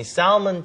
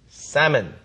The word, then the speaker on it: salmon: S-A-L-M-O-N이지만 발음이 salmon 절대 안 되고요. L 발음이 아예 없는 것처럼 발음해 주세요. salmon 이렇게 해주시면 되겠습니다.